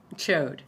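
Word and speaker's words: Chaud: but yeah I mean chode just chode I mean that's how it's spelled it's c-h-a-u-d is is the D silent I mean I don't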